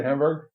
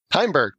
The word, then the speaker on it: Heimberg: I want to say Hamburg. How do you say his name again? Heimberg. Heimberg.